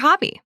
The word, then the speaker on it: hobby: Pronunciation note: the letter H in Italian is never pronounced.